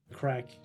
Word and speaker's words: craic: And crack, do you know the term, the crack? The crack? Like C-R-A-C-K? No. C-R-A-I-C, we spell it in Ireland.